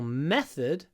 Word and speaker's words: method: method is slower here the important thing is to avoid saying method with a method a long m method the is actually clipped it's short because the th is GL unvoiced method method method then